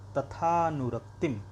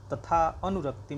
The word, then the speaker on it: तथानुरक्तिम: इसको अवग्रह बोलते हैं, लेकिन जब हम इसे पढ़ेंगे तो अ का उच्चारण नहीं करेंगे, तथानुरक्तिम ऐसे बोलेंगे, तथा अनुरक्तिम नहीं बोलेंगे।